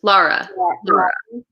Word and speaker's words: Lara: version was good but don't worry my name is hard to pronounce little oh crap I forget what I said first Lara yeah yeah okay cuz I have to friends named like Laura the way you spell it and one look prefers